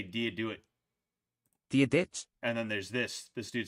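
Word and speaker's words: Dia dhuit: Gia or Dia Gwit. Dia Gwit. Oh man, that's crazy. Right, righteous ham. All right, how do you say it? How do you say it? Right. Oh shit. Anyway. Diadet.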